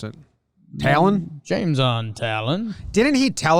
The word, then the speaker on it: Taillon: Texas, his dad just, he went by Taillon until he played baseball in, Montreal or in Canada, a showcase in Canada where they called him Taillon. And he was like, oh, that's how you say my name?